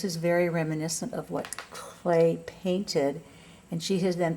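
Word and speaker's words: Klee: named CLE Paul CL only it's pronounced clay kle e e and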